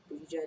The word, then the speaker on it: Buttigieg: Buttigieg. Like Buddha.